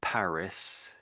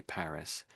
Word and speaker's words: Paris: When we go to Paris, say Paris. But the French, of course, say Paris, Paris. So we pronounce the S on the end, but the French just don't say the S.